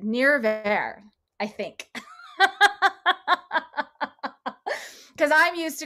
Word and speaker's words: Nirvair: i rule my r's so if you're irish or scottish or should be really easy if you're not don't worry about it just pronounce the word however you can n-i-r-v-a-i-r you know i'm